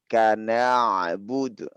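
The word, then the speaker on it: نعبد: Bukan na. Kalau na itu makhrajnya tepat. Makhrajnya tepat namun sifatnya tidak tercukupi. Tapi kita bacanya iyyaka na'budu. Kenapa? Karena ain kedudukannya adalah bainiyah ya tante. Bainiyah yakni pertengahan, dia lembut, lemah lembut.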